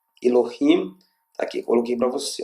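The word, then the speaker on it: אלהים: Então faz Rim, e aqui eu tenho um Mem final, Mem sofítico. Então, Elohim, Elohim, tá aqui, coloquei para você, ó.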